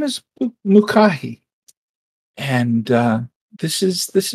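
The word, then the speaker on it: Mucahi: i i ever introduced myself my name is mukahi and uh this is this is my spa beautiful and i'm going to need you to spell that name for me m-u-c-a-h-i mukahi and her last name if you want it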